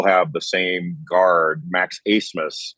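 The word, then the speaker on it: Abmas: the same guard Max acemus spelled a b m a s and it's pronounced asmus uh but they actually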